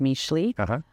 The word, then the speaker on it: Mixtli: I'm dying to hear how you curate your menu, where the name came from, because it's spelled Mixtli, but it's pronounced Mixtli.